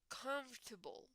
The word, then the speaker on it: comfortable: of these two okay this one is comfortable comfortable comfortable okay guys so it's like if you go slow is conf durable comfortable comfortable okay so it's not exactly as you read it right it's different the pronunciation is different so conf durable comfortable